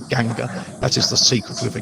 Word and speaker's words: Ganga: I'm opening with the lines, and again I'm using Eliot's pronunciations here. Ganga, that is the sacred river Ganges. Ganga was sunken, and the